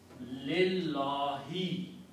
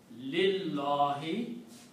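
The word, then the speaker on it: لله: pronunciation, whenever we combine, we don't pronounce this alif again. Just like in Alhamdu, we did the same thing. So this pronunciation, or in Allahu, this alif we did not pronounce. Now this lam is going to take out this alif again. It becomes Lillahi. The pronunciation is Lillahi, for Allah.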